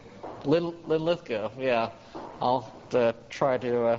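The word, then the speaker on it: Linlithgow: So, yeah, I get the accent's on the second syllable. Lithko.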